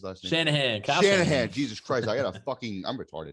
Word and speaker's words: Shanahan: francisco against the cardinals exactly um kyle kyle china i keep what the is how you say shanahan shanahan jesus christ i got a